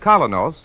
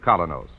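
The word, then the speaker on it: Kolynos: folks like you and me have found that kenos the high polishing toothpaste does that job thoroughly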